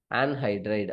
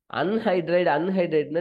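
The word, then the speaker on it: anhydride: அன்ஹைட்ரைடுன்னு நிறைய பேர் படிக்கிறீங்க, அப்படி படிக்காதீங்க. ஏன்னா ஈவன் தமிழ் மீடியம் பசங்களுக்குலாம் கஷ்டம். என்னன்னா அன்ஹைட்ரைடு அப்படின்னா UN எழுதிடுவாங்க ஸ்பெல்லிங்க, அப்படின்னா UN எழுதுவாங்க. அதனாலதான் இதை ப்ரொனவுன்ஸ் பண்ணும்போது ஆன்ஹைட்ரைடு அப்படின்னு சொல்றோம். ஓகேவா?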